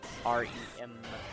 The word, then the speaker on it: Rem: It's Ren is spelled R-E-N. Rem. Yeah, right. R-E-M.